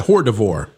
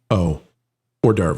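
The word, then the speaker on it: hors d'oeuvre: But uh especially as a horde divore. Hordavore. Yes. Yeah. I'm being told that's Hang on a second. Our French uh our French analyst is telling me that's pronounced o or derv.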